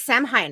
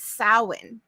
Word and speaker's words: Samhain: years ago and so I always thought it was Sam Hein I'm like Sam Hein but it's sowin yeah did you see